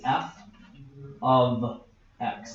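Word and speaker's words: f(x): for X months to I want to talk about how to say this cuz you're going to see this a lot F bracket X the way that you say it out loud is f of X that's that's how you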